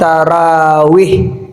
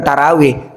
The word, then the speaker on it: tarawih: Qiamnya ada yang khas spesifik juga namanya qiam ramadannya tarawih. Sebenarnya bacanya bukan tarawih tarawih. Ro itu kan fathah, tapi kita tarawih. Kita bilang bahkan tarawih ya enggak apa-apa ya.